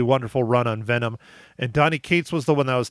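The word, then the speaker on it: Donny Cates: myself because I think I said it wrong Donnie Kates is the writer Ryan Stegman is the artist that they combined and created did null and it did a really wonderful run on Venom and Donnie Kates was the one I was talking to that's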